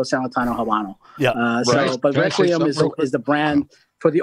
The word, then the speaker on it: Requiem: How do you pronounce this, Tim? Requiem.